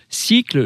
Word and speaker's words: Sikle: le fondateur de cycle alors cycle ça s'écrit s kle cycle les composteurs de Strasbourg